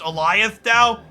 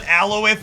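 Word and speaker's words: Alioth: to reflect chat that I understand it's pronounced Elias thou but I'm gonna call it alloweth and perpetuity because I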